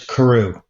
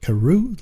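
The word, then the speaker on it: Carew: say your last name for us it is Karu Karu cool man cool Karu like how do you spell it c a r e w that's it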